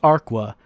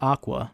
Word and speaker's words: Aqua: It looks like it should be pronounced Arqua, but they don't. They pronounce it Aqua.